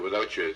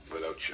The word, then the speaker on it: WithoutChya: catchy beat too I like the way it's spelled too without you it's without and then c h y a right up against it without you of course every English